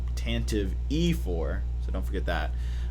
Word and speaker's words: Tantive IV: set is tanta v you emphasized the e on the end so it's Tantive IV tanta that's what he